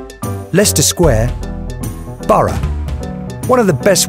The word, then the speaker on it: Leicester Square: Leicester Square.